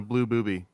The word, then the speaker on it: blue booby: TI mouse and a blue booby yep those are real birds the name Birds yeah not even like mispronouncing them to be funny those are the way that you pronounce both of those for real wow I learned